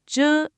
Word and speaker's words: 着: Men kai zhe.